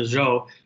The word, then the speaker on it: Zhou: the rise of the zhou dynasty so it's pronounced kind of like the name joe right so joe dynasty